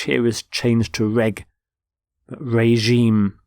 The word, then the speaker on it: regime: is changed to reg regime notice the pronunciation of the G is the sound regime